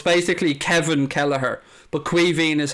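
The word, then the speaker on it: Caoimhín: basically kevin kelleher but cuiving is how it's pronounced in ireland or it's it's the irish version of the name kevin crowd is quiet i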